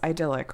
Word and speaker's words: idyllic: How do I pronounce this word? It's idyllic, right? And he's like, yeah, that's right.